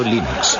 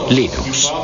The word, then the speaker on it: Linux: Bueno, yo Linux lo pronuncio Linux. Sin embargo, si fuese Linus Torvalds, no hay duda de que lo pronunciaría Linux.